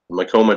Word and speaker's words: Macoma: Macoma does rhyme with Tacoma.